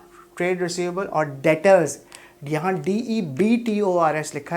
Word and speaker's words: debtors: यहाँ DEBTORS लिखा है, B साइलेंट होता है, debtors पढ़ते हैं इसको.